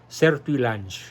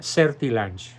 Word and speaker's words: Sertillanges: nombre el padre Search se escribe sertillanges y se pronuncia según las expresó en un libro que en su momento fue te faltó una n Ricardo es ser tilanges no ser tillajes sino ser tilanges se pronuncia certil exactamente tratemos ahora pues de